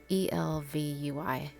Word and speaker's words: ElvUI: It's like LVUI. ELVUI. Yeah, that's it.